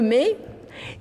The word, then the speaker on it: me: Alors le mai, c'est le don. C'était le don annuel qui se passait. Le mai, ça s'écrit M-E, mais c'est parce que ça se passait au mois de mai.